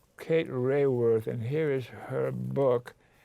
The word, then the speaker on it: Raworth: How do you pronounce it? Raworth. Kate Raworth.